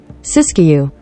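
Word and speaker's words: Siskiyou: Sis Sis siskou County I don't even know how to pronounce it let's find if you could pronounce it whatever happened English sisu I did say it right he be damn I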